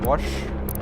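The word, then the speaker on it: Vaush: Yeah, Wash, but with a V instead of a W.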